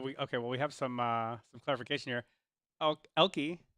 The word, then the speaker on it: Elke: Elke says, just to clarify on how to pronounce my name, it's pronounced Elke, Elkie. It's spelled Elke.